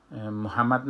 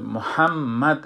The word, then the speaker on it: محمد: وقتی که ما تلفظ میکنیم محمد نمیگیم، محمد، محمد. ایره باید محمد همیشه ما تلفظ کنیم، اینطور تیز تلفظ نمی کنیم. این باید سر شدت شود.